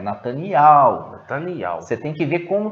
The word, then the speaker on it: Netanyahu: aldins falando, eles falam Netanyahu. Nós vamos colocar alguns vídeos aqui para vocês verem como que é pronunciado. Não é Netanyahu, não, é Netanyahu.